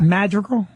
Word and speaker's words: Madrigal: Just this weekend, Al Madrigal will be at my club, and then how do you say his name? Madrigal.